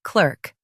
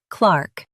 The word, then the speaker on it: clerk: In US, say clerk. In UK, say Clark.